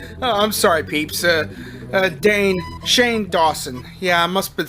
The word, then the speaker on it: Shane Dawson: Okay, Not Cool is a 2014 American romantic comedy film directed, produced, and edited by Dane Shawson. I'm sorry, peeps. Shane Dawson.